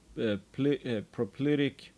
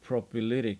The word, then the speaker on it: propylitic: extensive zone of inner prop propic no propylitic that's how you pronounce yeah hydrothermal alteration dominated